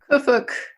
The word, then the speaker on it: Qfwfq: The narrator, how do you pronounce the narrator's name? Kufuk.